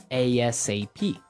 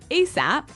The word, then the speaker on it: ASAP: So it's an acronym, and you can say it like ASAP or ASAP.